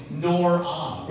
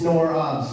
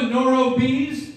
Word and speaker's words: Nor Obs: out by now saying the band's called the Nor Obs. It's Nor Obs, yeah. But we made that joke in the green room, too, where people kept mispronouncing it. Oh. Jensen was always like, no, it's the No Rob. As in No Rob Benedict.